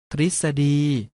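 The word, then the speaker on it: ทฤษฎี: ออก เสียง ว่า รีส ทฤษดี ออก เสียง ว่า ทฤษ ดี และ สรึ ออก เสียง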